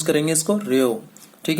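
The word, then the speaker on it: ρ: पी नहीं है बेटा, ये रजिस्टिविटी है, रेओ, ठीक है। क्या प्रोनाउंस करेंगे इसको, रेओ, ठीक है।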